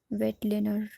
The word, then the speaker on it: Weitlaner: इसकी स्पेलिंग है WEITLANER, वेटलेनर retractor.